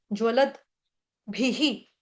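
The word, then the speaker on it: ज्वलद्भिः: भ भालू वाला पूरा है, उसके साथ छोटी की मात्रा है। द आपका आधा है। यहाँ पे दो विसर्ग हैं। विसर्ग का उच्चारण जैसे भी हो जाएगा ही। भी के साथ ह्रस्व मात्रा, विसर्ग का उच्चारण ह के साथ छोटी मात्रा ह्रस्व मात्रा ही।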